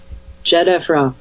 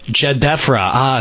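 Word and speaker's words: Khafre: happened to the pyramid of jefra I cannot pronounce this at all please help me jefra jefra thank you dr.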